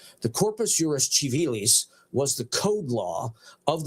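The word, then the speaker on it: Civilis: So I don't want people to say it's chivalis or kiwis. No, I'm pronouncing it like church Latin. So it's chivalis. The corpus urus chivalis was the code law of the Byzantine Empire from Justinian forward.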